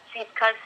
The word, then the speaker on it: Siefkas: I'm thrilled to share my story with you and your listeners, and kudos to being spot on the last name pronunciation. Siefkas is correct.